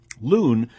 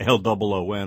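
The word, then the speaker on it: Luhn: Loon takes her philosophical, by the way, that's spelled L-U-H-N, not L-O-O-N, although that does suggest itself.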